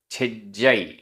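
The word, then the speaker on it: छिज्जइ: गाथा क्रमांक 36 उच्चारण छिज्जाई आधा ज पूरा ज छिज्जई छिज्जाई तिल तिल मितम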